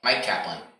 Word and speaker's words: Myq Kaplan: your name uh mike mike kaplan could you spell it for us i spell mike uh myq sorry or you're welcome